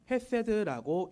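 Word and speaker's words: חסד: 여기에서 인자하심 히브리어로 보면 헤세드라고 읽습니다.이 이 헤세드란 말은 하나님의 피조물 특히 하나님의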